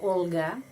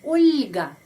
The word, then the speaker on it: Olga: orang ada orang Rusia Olga Olga Kalau pengucapannya Bahasa Indonesia bahasa Rusia ulga ulga Karena setelah huruf l ada tanda pelemah yang melemaskan huruf L ulga dan ada seorang laki-laki